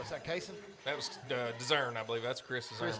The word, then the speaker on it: Dezern: favorite people are from Clay County and they're Dezarns, but they spell it the same exact way. And they're like, he's not a Dezarn, he's a Dezern.